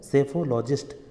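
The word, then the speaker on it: psephologist: रुझानों का अध्ययन करता है उसे बोलते हैं सेफोलॉजिस्ट सेफोलॉजिस्ट मतलब होता है चुनाव विश्लेषक सेफोलॉजिस्ट की स्पेलिंग है पी एस ई पी एच ओ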